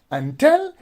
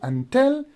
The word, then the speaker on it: until: the first syllable but actually the first syllable is not stress here you will say until and when you say until so you are actually stressing the second syllable which is the exact pronunciation of until here we have a